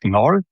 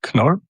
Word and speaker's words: Knoll: I know for English speaking, this is like Knoll, but in Germany or German speaking countries, we pronounce the letters as they are. So it's Knoll.